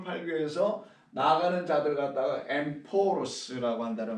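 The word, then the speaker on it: ἔμπορος: 그래서 이때 상이라고 쓰는 헬라어가 엠포로스예요. 엠포로스라고 발음합니다.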